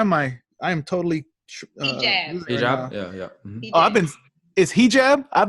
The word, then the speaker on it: hijab: Hijab?